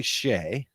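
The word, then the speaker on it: Skjei: of his studies but it's s-k-j-e-i and so i always loved to ask people to pronounce that last name when they'd see it because i screwed it up for the longest time so it's actually shea for for those that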